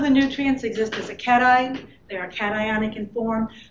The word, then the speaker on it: cation: Cations, and that's how that's pronounced, cation. I know it looks like it should be cation, but it isn't.